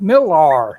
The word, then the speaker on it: Millar: you know had phone number on it pete millar it's spelled m-i-l-l-a-r and i called that phone number